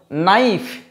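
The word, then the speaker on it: knife: ওকে, যেমন নাইফ, কে এন আই। সো এই ধরনের উচ্চারণগুলোর ক্ষেত্রে কিন্তু মাথায় রাখবো কে এন দিয়ে স্টার্ট হলে অবশ্যই সেটা কি হবে? কে সাইলেন্ট থাকবে।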